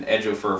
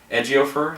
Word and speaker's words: Chiwetel Ejiofor: I've been saying Ejiofor for like months now, but it's Ejiofor. I think there's a tiny I in there in his name.